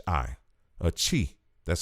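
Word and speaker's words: tshi: that's t s t s h i a chi that's how you say it which indicates a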